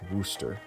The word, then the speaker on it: Worcester: But someone corrected me, and they said it's pronounced Worcester.